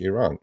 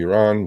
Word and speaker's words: Iran: or to, close to Iran. We know what's going on. It's Iran. It's not Iran. Please just say it correctly.